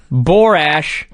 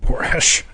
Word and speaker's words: Borash: And at this point, I thought, have I been saying his name wrong for 20 years, right? Because they're saying, "Look, it's Borash." Yeah. Barash.